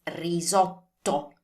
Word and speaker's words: risotto: That you do not want to turn the T into a D sound. So it's not risotto. It's risotto. So articulate that T sound well and stress it a little bit more because it's a double T.